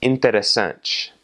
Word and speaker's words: interessante: And then a similar rule applies for when you have a T-I in the middle of a word or a T-E at the end of a word. So the word for interesting is interessante, and that last little syllable is N-T-E, interessante.